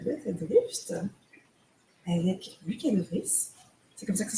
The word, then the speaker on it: Lucas de Vries: Commencer, bienvenue à tous à ce TechMaya consacré à DataDrift avec Lucas De Vries. C'est comme ça que ça se prononce?